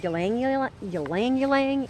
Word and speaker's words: ylang ylang: And then probably the one that's most popular in many different arenas is something called ylang ylang. It's spelled Y-L-A-N-G.